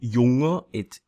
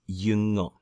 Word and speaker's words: jünger: So jung is not junger, you have to change the umlaut. So it becomes jünger, jünger.